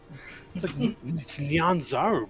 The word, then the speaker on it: Nyanzaru: it has to be Nyanzaru. It's Nyanzaru, bruh.